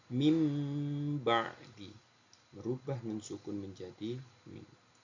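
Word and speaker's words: مِنْ بَعْدِ: yang pertama mim badi Jadi bukan Min badi bukan bukan Min tapi mim badi merubah nun sukun menjadi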